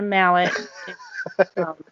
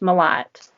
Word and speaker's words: Malott: for a mallet um it it is french um and i think it was probably originally pronounced mallet or i'm sorry melo but with the two t's i've just always been told um it's pronounced malat and it's just like saying just like a lot more lot a lot more